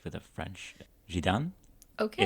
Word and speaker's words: Zidane: Zidane Okay. is how the French would say the name.